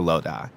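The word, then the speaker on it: Lodi: is one draw to Loa which I've now learned is how you pronounce it but the other one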